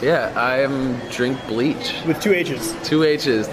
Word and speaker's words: Drinkbleachh: Yeah, I am Drinkbleachh. With two H's. Two H's, no spaces. See, I wasn't sure if the H's altered the pronunciation at all. It was like Drinkbleachh. No. Yeah.